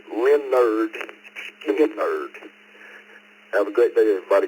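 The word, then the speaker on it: Lynyrd Skynyrd: My first album was Leonard Skinner's debut album, pronounced Leonard Skinner.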